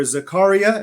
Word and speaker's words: Zakaria: televised exchange between journalist fared Zakaria or Zakaria as it's he pronounces it and Sam Harris on